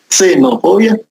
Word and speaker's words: xenofobia: Xenofobia con X, xenofobia, pero se pronuncia xenofobia, es el odio que se le tiene a una persona por ser extranjera.